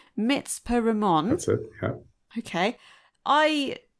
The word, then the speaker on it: Mitzpe Ramon: So I'm going to try and pronounce it right then, as per your pronunciation. Mitzpe Ramon.